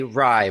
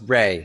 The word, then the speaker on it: Rai: And I'm stumbling over your name because it's spelled R-A-I. So my brain wants to say Rye, but I know it's Ray.